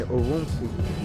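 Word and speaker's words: Ürümqi: that actually erupted in an apartment building in uruzu that's spelled u-r-u-m-q-i on Thursday night where the fire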